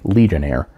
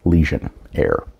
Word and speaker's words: Lesionnaire: the legionaire first and I'm not mispronouncing it it's supposed to sound like legionaire but it is leion air so short and sickly